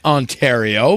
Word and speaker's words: Ontario: Okay, so, yeah, he said it wrong. It's Ontario, but yeah, okay.